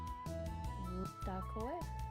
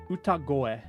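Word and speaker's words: 歌声: So why does it change from a ko sound to a go sound?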